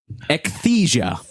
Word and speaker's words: Ecthesia: Ecthesia. Can I get a spell on that? You can. Ecthesia. Pronounced ecthesia. Ecthesia. Little pig boy.